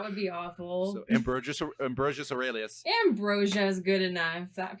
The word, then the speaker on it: Aurelius: Aurelius. Okay, Aurelius. So that looks a lot like anus at the end, and I was really hoping that wasn't, because that would be awful. So Ambrosius Aurelius.